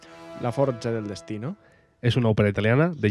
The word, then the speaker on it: la forza del destino: la fuerza del destino con pronunciación italiana la forza del destino es una ópera italiana